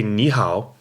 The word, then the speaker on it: 你好: means you good its knee third tone which means you and how also third tone which means good now